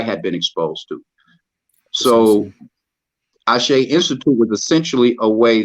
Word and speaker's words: ASHE: Am I pronouncing it correctly? Yeah, ASHE.